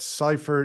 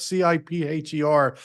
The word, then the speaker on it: Cipher: correspondent at Cipher news is it Cipher I have CIP heer I'll have to get pronounce that more accurately maybe you can share that with Cipher is that it uh okay there it is cipher first right time right um bill I